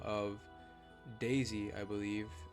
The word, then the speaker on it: Dazey: by the name of Daisy I believe not like daisy as in like the flower but Daisy is in like you're dazed up for real yeah d-a-z-e-y I'm pretty sure that's